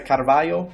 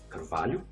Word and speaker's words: Carvalho: Yeah, look, I am not the best at Portuguese from Portugal, but I think it would be something like Carvalho. Okay. Yeah, you kind of like eat the vowels a little bit, and sorry if I mispronunciated.